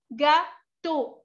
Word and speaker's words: gâteau: La E, la A y la U se pronuncian O.